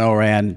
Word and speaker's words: Ourand: and Oran podcast Oran how are you Jimmy thanks for pronouncing my name correctly I appreciate that yes